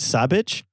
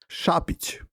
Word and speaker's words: Šapić: of work, a man whose name I believe is pronounced Alexander. Is it savage? Shabich. Yeah. Alexander Shappich.